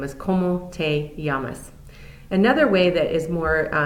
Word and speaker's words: llamas: The first that you'll see here is ¿Cómo te llamas? Notice I didn't pronounce the L sound. Double L's in Spanish make a y sound. So it's ¿Cómo te llamas?